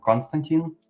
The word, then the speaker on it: Constantine: go with my name it's uh like the movie withan Reeves you probably heard of it it's called Constantine Constantine yep that's my name okay and that's how